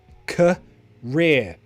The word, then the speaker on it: career: life that's your career pronunciation cut that is a schwa career and then okay let's